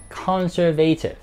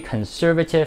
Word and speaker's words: conservative: 嗰架车每一个月嘅保养费咧，要大概$1,000。最后一个字，保守的或者守旧的，咁呢个字咧亦都有环保的嘅意思嘅。好多朋友咧将会读成 conservative，但呢个字咧其实系 conservative。conservative。例子，They are a very conservative family who cannot accept homosexuality.